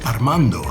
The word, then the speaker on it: Armando: My name is Armando, spelled with an A, followed by 5 R's.